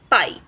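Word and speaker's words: pie: सो the word will be प आई पाई, ट आई टाई। क्योंकि ई जो सेकेंड वावल है वो साइलेंट हो जाएगा और फर्स्ट वन अपना नेम पढ़ेगा।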